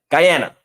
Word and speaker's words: Guyana: Guyana. That's how you say it.